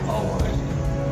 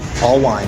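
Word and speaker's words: Alwine: All wine. Can you spell that? L W I E. A L W I N E. All wine.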